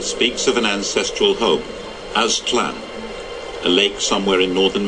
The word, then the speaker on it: Aztlan: Aztec history speaks of an ancestral home, Aztlan. now, that's, I guess, how it's pronounced. If you pay me money, I still couldn't pronounce that. Aztec history speaks of an ancestral home, Aztlan, a lake somewhere in northern Mexico.